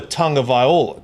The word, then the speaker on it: Tagovailoa: What is the proper pronunciation? Tua Tagovailoa, just like he said it, just how Tua said it.